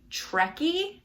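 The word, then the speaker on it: Treci: this fun vintage dress i think the braid is pronounced jw trekkie it's t-r-e-c-i i didn't know it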